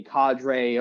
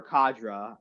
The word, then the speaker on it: cadre: if I remember correctly a Cadre or cadra um whichever way you want you are pronounce it is yeah yeah Thank